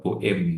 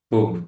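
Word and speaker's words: Boehm: di Google gitu ya, Bom itu bacanya adalah Boim ya dari Boim itu karena dia adalah orang Jerman. Orang Jerman yang ada di Amerika ya di saya lupa itu universitasnya California atau mana gitu ya. ee itu ee ee apa? Karena dia orang Jerman, maka dipanggilnya itu bukan Bom, tapi bacanya Boim gitu ya.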